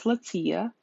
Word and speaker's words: Letitia: My name is Latia. It's spelled Letitia, and you'll never get Latia out of that, so I just prefer you to call me Tia.